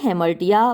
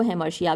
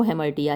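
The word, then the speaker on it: hamartia: Which is called हेमर्टिया, जिसको कि हेमर्टिया बोलते हैं। कुछ लोग इसको हेमर्शिया भी बोलते हैं, लेकिन जो प्रॉपर प्रोनाउंसिएशन वो हेमर्टिया ही है।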